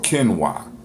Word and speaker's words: quinoa: here are 11 health benefits of camera or Ken why I said hey it's Tina it looked like